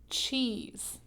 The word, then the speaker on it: cheese: Then we have one final sound, and then this is actually a silent E. We don't even say it when we pronounce it. So we have ch, E, z, cheese.